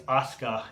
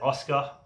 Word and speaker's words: Asuka: So number 6, the best female wrestler in WWE at the moment is Asuka, and she's not getting any opportunities at all. So Asuka, some people pronounce it Oscar.